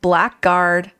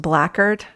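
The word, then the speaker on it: blackguard: is a risk of Black Guard retribution I think that's actually pronounced blackard retribution but to no avail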